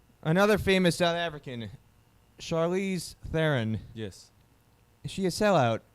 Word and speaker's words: Theron: You obviously don't agree with it, but we say Theron. I still say Rusty Theron, like it is. A silent H. She's obviously not making it made it the silent H anymore, so she's gone the Theron route.